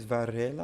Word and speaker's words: Varela: I think it's Varela. I'm trying to roll my R in there.